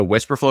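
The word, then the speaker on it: Wispr Flow: So Whisper Flow, it's spelled WISPR. It's like, and then Flow, FLOW.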